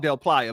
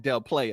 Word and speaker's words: Del Playa: It's called Del Playa, but I called it Del Playa because it's spelled Del Playa, right?